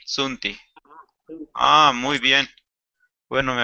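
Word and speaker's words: tsunti: No se olvide de leer TS Sunti. Sunti. TS. Sunti. Ah, hay que pronunciar Sunti. TS Sunti. T-S-U-N-T-I, Sunti.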